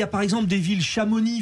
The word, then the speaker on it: Chamonix: par exemple des villes Chamonix faut pas prononcer le X mais si il est